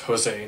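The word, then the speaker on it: José: the world right now Jose Aldo I think his name is pronounced Jose not Jose as they keep on saying it but Jose Aldo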